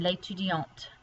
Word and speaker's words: l'étudiante: But here, because you add the E to make it feminine, you do have to pronounce the T. So you have l'étudiant here and l'étudiante, male student and female student.